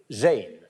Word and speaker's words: Jain: année les artistes francophone la jeune Jaane alors ça s'écrit J a i n ce qui est évidemment